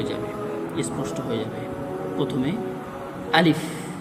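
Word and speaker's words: ألف: আলিফে কোন টান হবে না। আলিফ আলিফের উচ্চারণের শেষে ফ উচ্চারণ হবে। কিন্তু বাংলার খর মতো নয় বরং সামনের দুটো দাঁত ঠোটের উপরে কামড় পড়বে। আর সাথে সাথে একটু হাওয়া বের হবে।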